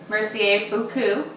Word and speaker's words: Mercier Beaucoup: She also has an awesome blog called Mercier Beaucoup. Is that how you pronounce it?